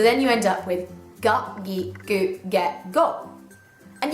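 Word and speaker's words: が: Start off with ka, and you add the little symbol to it, and it becomes ga.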